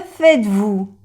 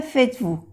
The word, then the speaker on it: faites: Por ejemplo, que faites-vous? Que faites-vous? Faites no se pronuncia la E ni la S.